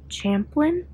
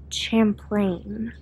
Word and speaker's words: Champlain: they okay number one I was pronouncing the name of the lake wrong it's not what did I say Champlain Champlain it's like champ and plain put together okay number two I